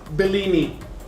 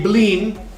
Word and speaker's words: blini: time it is not bellini and it is not a pancake it is a bling and it is a great okay all right so let's uh start making this bling okay we need to